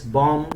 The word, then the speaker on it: bomb: there are many examples bomb we don't say bomb bow climb we don't say